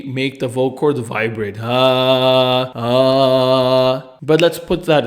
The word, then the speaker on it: ه: The letter ha. These are its various forms. Looking at it through first, VMA. V. The letter ha is unvoiced, meaning that the vocal cords do not vibrate during its pronunciation.